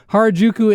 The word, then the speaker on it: Harajuku: Harajuku M's. Yeah, that's perfect pronunciation.